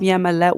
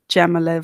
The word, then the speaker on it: Jamila: yeah my love for jamila for joining us i know she's gonna kick my butt i always say her name wrong i say with a y not a j um so i wanted